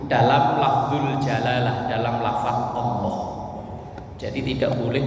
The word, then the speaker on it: Allah: Nah ini kalau kita takbir, kalau pengen dipanjangin, jangan dipanjangkan di huruf hamzahnya, tapi panjangkan di huruf lamnya, lam jalalahnya. Allah. Nah itu kan di lamnya kan. Nah, lam jalalah itu cara bacanya kan ada tafhim, ada tarkik, tapi ini pelajaran tajwid. Tafhim kalau huruf sebelumnya itu berharokat dhammah atau berharokat fathah, maka lamnya dibaca tebel Allah.